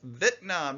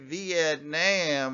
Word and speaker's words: Vietnam: And when I got home from Vietnam, and that is the correct way to pronounce the word, by the way, it's Vietnam, none of this damn LBJ Vietnam horse crap.